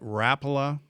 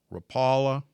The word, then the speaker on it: Rapala: Is it Rapa or Rapala? Okay. The fins roll their ars. Ro throw deep roa. Okay. We call it rapa out east. It's rapala.